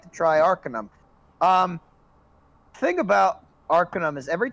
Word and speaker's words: Arcanum: the A is pronounced with an O. It's Arcanum.